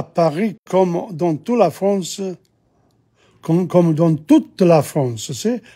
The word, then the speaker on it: toute: À Paris, comme dans toute la France, see? The feminine there, you pronounce the T.